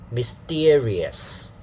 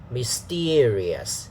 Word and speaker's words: mysterious: Okay, the ear sound is a diphthong from ear will be here. Delete the H sound in the word here. Delete the H sound. Ear. Mysterious. So it's not a long E sound. Some people think that this is a long E sound. No, not mysterious, not D. This syllable is not E, but ear.